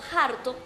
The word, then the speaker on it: harto: Por ejemplo, hediondo en vez de hediondo o harto en vez de harto. Rumores del Teide es un